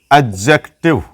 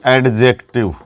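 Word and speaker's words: adjective: अगला जो हमारा पार्ट है जिसका नाम है एडजेक्टिव, न कि एडजेक्टिव, ये डी इसमें साइलेंट रहता है।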